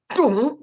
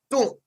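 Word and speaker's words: 東: 중국 발음으로는 이게 동이 아니라 뚱 이렇게 됩니다. 뚱.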